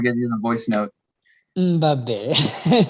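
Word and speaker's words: Mbappé: Mbappe. Mbappe.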